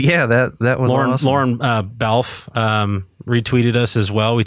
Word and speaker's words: Balfe: Completely butchered his name in the podcast. I called him Balfe, and it's Balfe.